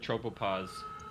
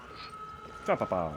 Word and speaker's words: tropopause: Tropopause. I guess some tropopause. Tropopause. I assume stratosphere is higher. Where is It rhymes with cause, gauze, tause, applause, menopause, clause, pause, yaws, and because.